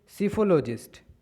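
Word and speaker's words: psephologist: Next word is सीफोलॉजिस्ट। सीफो यहाँ P silent होता है, ठीक है, तो यहाँ से पढ़ना चालू करें।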